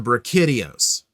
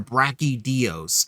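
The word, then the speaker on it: Brachydios: You want a Zenogre, I want a Brikidios. And I understand or a brachy dos depending on how you want to pronounce it.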